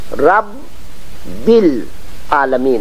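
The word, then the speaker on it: رَبِّ الْعَالَمِينَ: رب العالمین پڑھتے ہیں، یہ رب نہیں ہونا چاہیے، رب بالعالمین ہونا چاہیے۔ اور رحیم ہونا چاہیے۔ آپ دیکھتے ہیں کہ رے کے اوپر جو تشدید ہے اس کا 2 مرتبہ ضرور تلفظ ہونا چاہیے عربی میں، صحیح عربی میں۔ بسم اللہ الرحمن الرحیم،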